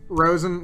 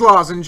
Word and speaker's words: Lozenge: right swing yeah and for anybody wondering why he is calling it like rosin Magus that is its original pronunciation in Japanese so it is lozenge it is the same card it's just say it's Lawson yeah it is like you can call whatever you want but just if anybody was wondering that is its original pronunciation before it was translated thirdly we'll pray we